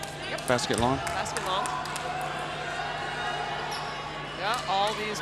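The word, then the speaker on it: Basket Landes: Did I pronounce that right? Yep. Basket long?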